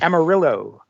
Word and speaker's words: Amarillo: Well, not pronounced the way it is in Spanish, but Amarillo.